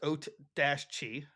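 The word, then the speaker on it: Oatchi: too uh Ochi and it pronounced oat Dash Chi uh resident good boy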